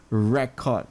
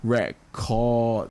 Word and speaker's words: record: The class record, the re is being emphasized here, was inaccurate. So I record, the chord is being emphasized, one more song. I mean, if it's a noun, we emphasize on the first syllables. If it's a verb, usually we emphasize on the second syllable.